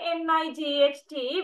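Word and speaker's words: knight: it comes to English K N I G HT we say night but in Old English long time ago they pronounce the sound also K we can't pronounce that also K like that so then later the sound C became silent okay so then uh there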